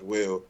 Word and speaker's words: WEAL: name is Will and my rap name is pretty much will but it's spelled like real so it's spell s-p-e-l-l-e-d like l-i-k-e real r-e-a-l I'm on pretty much